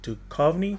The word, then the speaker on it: Duchovny: Is The Joneses with Demi Moore and David Duchovny. That's how you say his name. I always say his name wrong.